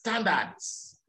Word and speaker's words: standards: sample something sample yes standards standards standards you must pronounce that d at the end so what i